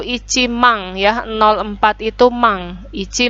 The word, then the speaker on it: 万: Nah, ini yang cukup sulit ya, karena berbeda dengan pengucapan rupiah bahasa Indonesia ya. Hati-hati, jadi kalau nolnya 4 itu tidak 10.000 tidak ada ya, tapi langsung masuk mang.